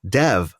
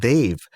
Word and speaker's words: Dev: Dev and I know commonly it's Dev but for Indians we pronounce it they've and there was a